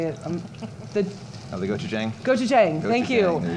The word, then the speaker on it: Gochujang: The Oh, the Gochujang?